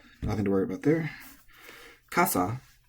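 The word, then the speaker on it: 傘: Kasa is tamadaka, high-low.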